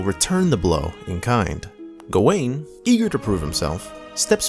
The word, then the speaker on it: Gawain: the journey of the young knight gawain or gowin as the film chooses to pronounce it in the movie as